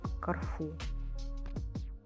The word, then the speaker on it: Корфу: человек в кроме языке распространено название кофу хотя правильнее по-итальянски ставить ударение на второй слог корфу история острова связанную с